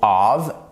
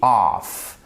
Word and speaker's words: of: On a vu pour of, hein, je vous rappelle que ça se prononce bien of. Et ici, off.